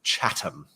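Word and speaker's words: Chatham: in in much more detail but um it's pronounced chattam and uh I know that can be hard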